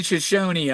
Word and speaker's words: Shoshone: They're saying Shoshone on it. It's Shoshone. You don't pronounce that E.